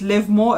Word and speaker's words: Livemoor: saying live more for the longest and the pronunciation is live more it's not live more i've been saying it wrong so i do